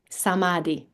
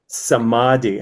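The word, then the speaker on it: samadhi: Samadi. Samadi. How do you spell that? S A M A D H I. Sadi.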